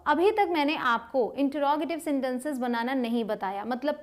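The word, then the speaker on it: interrogative: आपने बहुत लोगों को कहते हुए सुना होगा इंटेरोगेटिव या फिर इंट्रोगेटिव, लेकिन अमेरिकन और ब्रिटिश दोनों ही इंग्लिश में इसे कहा जाता है इंटरोगेटिव।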